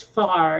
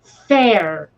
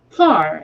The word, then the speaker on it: Fahr: me is like, okay, my last name is Fahr, Fahr, Mm-hmm. right? And the number of people who think that's pronounced fair for some reason instead of far, Fahr. AH is ah.